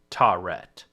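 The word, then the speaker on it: Taweret: what i could gather it's tauret but it's there's extra vowels in there but um yeah she's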